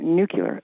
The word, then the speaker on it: nuclear: I can't stand when people say nuclear and walls did it walls did it more than once and you know people have Regional pronunciations they mispronouncing but I've never understood that one n Ule e a nuclear okay I never understood